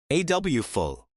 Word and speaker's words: awful: And again, notice the pronunciation. We put the stress on the first part. AW full.